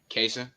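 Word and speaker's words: Kaesyn: okay how are you good what's your name KAS how you spell it uh K AE s YN okay what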